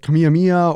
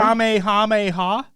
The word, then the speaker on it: Kamehameha: fortnite content creators that didn't know how to say Kamehameha yeah like they're like kamiyamiya or like whatever am I saying it right yeah you are Kamehameha I think so is